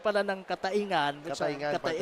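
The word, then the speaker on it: Cataingan: So ito pa lang ang pronunciation pala ng Katayngan. Katayngan, partner. It's Katayngan.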